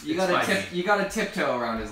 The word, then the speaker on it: Feige: So actually, Kevin Feige, is that how you pronounce his name? I used to think it was Phage, but it's You Feige. got to tiptoe around his last It's name. Feige.